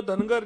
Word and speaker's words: धनगर: धनगढ़ जहाँ पे कई जगह प्रोनाउंसिएशन में गलतियां हो जाती है। महाराष्ट्र की बाहर की राज्यों में धनगढ़ बोला जाता है, यहाँ पे धनगर बोला जाता है।